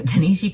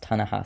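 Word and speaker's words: Ta-Nehisi: one that I read in one sitting um Tanisha Coates between the world in me I'm gonna correct myself real quick his name is actually pronounced ton aha see it's like a series of essays presented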